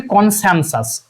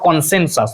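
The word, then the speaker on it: consensus: দেখো এখানে দেখো লাস্ট যে, দেখো এখানে কি আছে কনসেনসাস, সেন্সাস বলে তো এরকম কিছু স্পেলিং হয় না, তুমি উচ্চারণে বুঝতে পারছো এটা ভুল হয়ে গেছে, দেখো কনসেনসাস, দেখো কনসেনসাস, দুটোই কিন্তু দেখো এখানে সি কোনো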